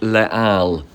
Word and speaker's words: Les Halles: The name is pronounced Les Halles.